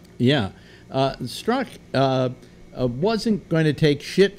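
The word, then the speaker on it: Strzok: Well, part of it was that, and I have trouble pronouncing his name, but Struck, is that how it's pronounced? Yeah, the Z is silent, I think. Yeah, Struck.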